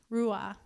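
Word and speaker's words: roeh: something prophetically to release any questions about that it's spelled r-o-e-h rua another name everybody doesn't like the name but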